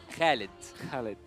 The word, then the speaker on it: Khalid: Actually, my real name, it is Khalid. Khalid. Yeah. Okay, so that's how we pronounce it.